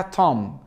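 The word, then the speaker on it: tomb: كان الملوك لما كانوا بيموتوا بيحطوه فيها اسمها تم ت تم واول ما تلاقي ام مع البي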